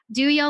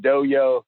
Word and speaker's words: DOYO: we actually call it we call it do you live but those people call it dough yo the dough yo one